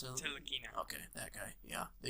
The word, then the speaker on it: Ntilikina: Hey, you could have just drafted him, but instead you took Frank how do you pronounce it? Ntilikina.